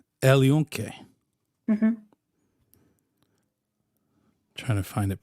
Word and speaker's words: El Yunque: It's El Yunque. El Yunque.